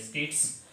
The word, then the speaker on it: Keats: अब ये कीट्स की स्पेलिंग ये होती है KEATS, कीट्स, और उसके बाद में हिसिंग साउंड भी आ